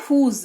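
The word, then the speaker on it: whose: फिर है हूज। डब्ल्यू एच ओ एस ई। हुज इसको पढ़ते हैं तो हल्का सा ज का उच्चारण होता है हुज है ना ये इस्तेमाल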